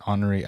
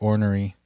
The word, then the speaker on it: ornery: I didn't know that's until like maybe like a few months ago that's how you say it, ornery. I thought it was like ornery.